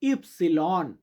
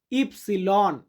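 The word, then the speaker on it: ipsilon: এক্স মানে এক্স আর ওয়াই ওয়াই কে Italian ভাষাতে বা ইতালিয়ান বর্ণমালাতে আমরা উচ্চারণ করি ইপসিলন ইপসিলন যে ডেটার ইতালিয়ান হবে যেতা তো যারা সম্পূর্ণ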